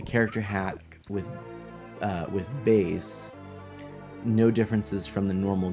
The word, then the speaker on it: Bass: it's musically themed so the character with the name that is spelled b a s is in fact Bas uh meant to be you know a like bass in a in a song the instrument the you